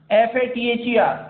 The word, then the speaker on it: father: Whenever R comes after any vowel, then it remains silent in British English, but in American English we pronounce this R. See, for example, FATHER, E के बाद R आ रहा है.